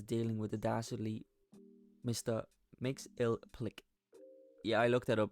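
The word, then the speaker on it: Mxyzptlk: tale Superman is dealing with the dazzly Mr mix ill Plick yeah I looked that up by the way that's how how you pronounce it and he's just messing with Superman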